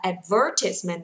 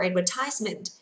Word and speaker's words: advertisement: Vậy âm này không đọc là ties nhá, đọc là advertisement or advertisement. Advertisement or advertisement.